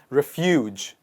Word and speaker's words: refuge: home that is called refuge refuge the stress is on the second part refuge but the people